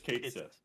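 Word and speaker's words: Cait Sith: It's a Kate Sith, which I think is what how to pronounce it. It is Kate Sith.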